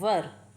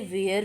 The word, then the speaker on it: were: कुछ लोग इसे वेयर भी बोलते हैं, जो कि गलत होगा। इसकी सही प्रोनाउंस होगी वर, जो कि ब्रिटिश इंग्लिश में वा बोलते हैं और अमेरिकन इंग्लिश में वर। ब्रिटिश इंग्लिश में बा को थोड़ा जोर दे के बोलते हैं वा।